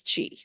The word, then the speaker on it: Qi: actually key is Japanese Chi is Chinese so it's Chi but it's spelled Qi that's why I always